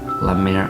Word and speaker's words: La Mer: expensive brand that rhymes with let's see what rhymes with lemaire what mayor malaire malaya lamere okay never mind i used to be a